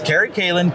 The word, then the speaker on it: Kerry Callen: spell it right because I because I was pronouncing it wrong. So I you know, but so it's Carrie Kalin.